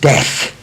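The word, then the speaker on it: Steck: It's pronounced Stech, but it's known to be an American piano now.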